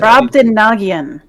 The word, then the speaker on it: Brobdingnagian: now he can Splice pronounce it in there. Brobdingnagian.